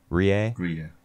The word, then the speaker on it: Rie: Rie.